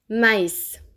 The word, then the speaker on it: maïs: Il sert généralement à indiquer qu’on doit séparer la prononciation de deux voyelles qui sont collées. Écoutez la différence: Mais / maïs, endroit / androïde.